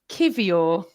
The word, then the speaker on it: Kiwior: And that can lead us on to our new signing, Jakub Kiwior.